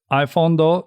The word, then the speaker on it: iPhondo: Well, I'm on YouTube as iPhondo. That's like Nintendo or avocado, but it's iPhondo.